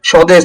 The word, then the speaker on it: স্বদেশ: অর্থাৎ শব্দের শুরুতে যদি বফলা সংযুক্ত থাকে সেক্ষেত্রে সাধারণত বফলার কোন উচ্চারণ হয় না।